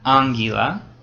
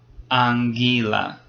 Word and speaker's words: anguila: And note which syllable is stressed in that? Anguila. It's the second one. It's not anguila, it's anguila.